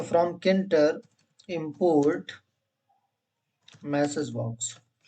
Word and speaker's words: Tkinter: देखिए भैया, ठीक है, इंटर फ्रॉम टीके इंटर बोल रहे हैं या किंटर बोल रहे हैं? किंटर वैसे सही प्रोनाउंसिएशन है, लेकिन मैं भी टीके इंटर अभी तक बोलता आ रहा हूं तो मुझे भी आदत है। किंटर इज the right pronunciation from टीके इंटर इंपोर्ट स्टार।